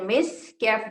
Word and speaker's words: مسك: तो हम स्टॉप करेंगे और जब स्टॉप करेंगे तो काफ साइलेंट हो जाएगा और उस वक्त हम कैसे तलफ़ुज़ करेंगे इसे ऐसे खितामुहु मिस्क कैफ साइलेंट हो जाएगा ओके खितामुहु मिस्क वाव ज़बर वा फा